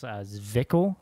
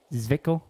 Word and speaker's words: Zwickl: And this one is I can't say the name right, but it's Zwickl. I think that's how you say it. Zwickl.